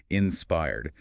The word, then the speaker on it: inspired: Stress the second syllable there, inspired.